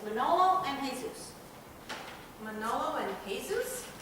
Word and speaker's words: Jesus: It's Manolo and Jesus. Manolo and Jesus? Yeah, you don't pronounce the J.